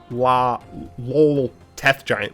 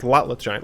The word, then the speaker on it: Lotleth Giant: I always want to say it's Lol Teth Giant, but it's Lotleth Giant.